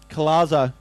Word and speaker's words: Collazo: Collazo. There's no R there.